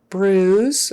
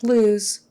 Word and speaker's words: bruise: get the r um bruise again with the r bruise not Blues bruise Blues is a genre of music U bruise is the thing that shows up on